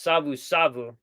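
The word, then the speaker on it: Savusavu: It looks like Suva Suva, but it's pronounced Savu Savu, not to be confused with Sevu Sevu, which is the stuff you give for kava.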